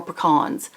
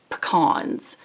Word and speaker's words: pecans: Or pecans. How do you say it? I think I asked this last month too. I say pecans, but I think it's pecans. Like peas in a can.